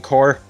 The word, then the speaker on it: Corps: Um but in that like particular thing, it's corp. It's corp. Even though there's no way to tell it's corp.